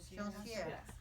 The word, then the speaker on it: Joncières: And this is Joncières. Joncières.